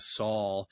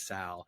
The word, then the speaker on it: Sal: earlier Adrian Sal uh we've been pronouncing your last name slightly and correctly we've been going with the Saul and it is Sal and uh you were